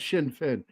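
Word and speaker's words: Sinn Féin: I said, it's actually said Sinn Fin.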